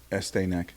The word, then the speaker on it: Estee Nack: Estee Nack. Ooh. Yeah, like Estee Lauder.